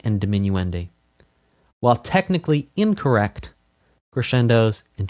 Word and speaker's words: diminuendi: It is technically correct to pronounce multiples of crescendo as crescendi and multiples of diminuendo as diminuendi. This is because in Italian words that are plural usually end with an i like spaetto to spaghetti.